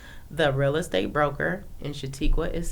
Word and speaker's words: Shuatequa: Facebook or Instagram on Facebook my name is shatiqua the real estate broker in shatiqua is spelled s h UA t e qu UA